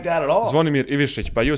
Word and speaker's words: Zvonimir Ivišić: Zvonimir Ivišić, but you said like correctly, Yeah. It's not like the same pronunciation, but you said it correctly.